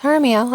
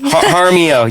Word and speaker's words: Jaramillo: So my name's Jaramillo, as you just said. Jaramillo, yes.